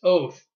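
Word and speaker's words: אות: between by an eyes sign is the Hebrew word 2:26 pronounced oath yes both it means evidence assign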